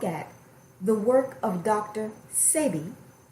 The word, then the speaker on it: Sebi: Sebi. It's spelled S-E-B-I, but it's pronounced Sebi.